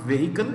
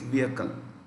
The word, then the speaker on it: vehicle: as people call it the h is silent usually when you pronounce this remember h is silent okay it's not vehicle it's vehicle so to repeat mukbang